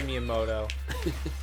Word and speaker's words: Miyamoto: He really pronounced the T in his last name. Miyamoto.